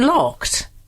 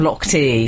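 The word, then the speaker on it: Lochte: at something it's Ryan locked it's Ryan locked to that's how they pronounce it there's no no I don't I won't I won't have lock te I balori lock te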